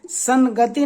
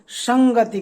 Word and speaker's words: संगति: उसी तरह दोस्तों देखिए समधन गति, इसको संगति न कहकर इसको संगति कहते हैं। संगति यानी अंग का उच्चारण होता है, तो अपने का पांचवा बदल गया।